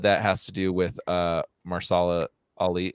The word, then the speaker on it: Mahershala: The second season dropped off quite a bit, and I think a lot of that has to do with Mahershala Ali. How do you say that? Mahershala.